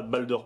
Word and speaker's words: BALDR: Bon, on peut prononcer ça Balder Pro.